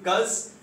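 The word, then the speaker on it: 'cause: Please understand the pronunciation. It will be cuz I was late.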